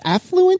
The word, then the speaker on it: affluent: you're going to do it's not it's affluent that just sounds wrong to me but that's how the pronounced the word I didn't make it up oh God anyway think maybe think of like afflac the afflac duck oh affluent afflac that's